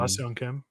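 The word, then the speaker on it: Ha-seong Kim: the players they have, Wasa Kim, if I say his name right. Yeah, Um, Baseon Kim. I did say it. Yeah, Okay, good. you got it.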